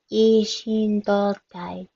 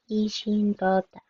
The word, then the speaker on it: 一心同体: And notice the small two character here. That means that this sh, the consonant part of she, is extended.